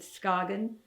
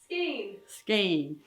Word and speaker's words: Skagen: shells on the beach as I pronounce it Skagen, and Hannah pronounces it Skane.